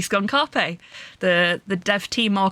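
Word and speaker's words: Skun-ka'pe: why I said uh I've been saying his name wrong on purpose because it is actually skun Carpe the the dev team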